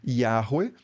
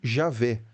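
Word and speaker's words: Yahweh: tempo e do espaço a reconstrução acadêmica internacional mais convencional hoje é algo como yahwe ou em português yavé ou Javé mas de novo né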